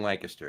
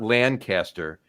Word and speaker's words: Lancaster: Right now, he is in Lancaster, yes. And I did learn that a couple of years ago. It's not Lancaster, it's Lancaster. Like Lancaster. Okay. That's how it's pronounced.